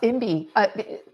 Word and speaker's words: IMBY: Yeah, Imby. People are more familiar with NIMBY, which is not in my backyard.